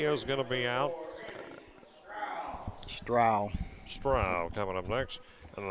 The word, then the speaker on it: Strow: S T R O W is how you spell his name. And some people might call it Strow, but no, it is Stra.